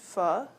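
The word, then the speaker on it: pho: really yummy right um it's spelled pH pronounced f um so we're going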